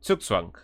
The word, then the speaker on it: Zugzwang: Yeah, Zugzwang. I was told that that's the German pronunciation.